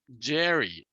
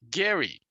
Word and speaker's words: Gerry: Sab Matsumoto: Jerry but actually has his name is spelled G last name is spelled G R y but according to most documents and his name is actually pronounced Gary not yet so possibly